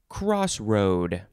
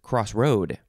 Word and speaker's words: crossroad: great okay next word crossroad uh you can emphasize the first or the second syllable who says crossroad i think it's just